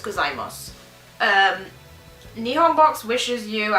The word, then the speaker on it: gozaimasu: Akemashite omedeto, no, you don't pronounce the U, so it's gozaimasu.